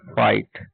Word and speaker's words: fight: ठीक है, और एक बात इसमें ध्यान रखने वाली बात है, जब भी किसी वर्ड में GHT साथ में आएगा तो उसमें GH साइलेंट होता है।